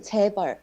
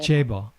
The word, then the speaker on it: 재벌: It's a 재벌, 재벌. Tape. Yeah. Yeah, it's like JAE, Yeah. J, and BULL, like 재벌, 재벌. Chaebol.